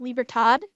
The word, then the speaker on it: Libertad: this annoyed me it's it's obviously pronounced libertad because it's it's you know like uh uh Latin America in pronunciation when I watched angre